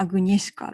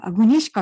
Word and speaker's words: Agnieszka: It's difficult to pronounce, but sometimes I write Agnieszka Holland, Agnieska, or Agnesika. I think Agnieszka is true Polish pronunciation is difficult, isn't it?